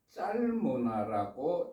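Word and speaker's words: 잘모나: 그 살모나는 히브리어로 짤모나라고 발음을 하는데 그 의미는 그늘진 이런 의미를 가지고 있습니다.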